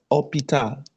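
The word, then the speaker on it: hôpital: for shi pron with the word second fle when you see uh for example we have hospital then in French say opita H is not pronounced orital.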